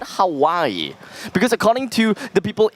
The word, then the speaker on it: Hawaii: paris sounds way better then how would you pronounce h-a-w-a-i-i it will hurt why wait slow down w-a-i-i you know howie wait really h-a-w-a-i-i a-i-i hawaii right yeah i